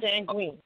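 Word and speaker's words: sanguinis: Just Soleil, just Seguin, is that how you pronounce that word? S-A-N-G-U-I-N-I-S? Yes, sanguine.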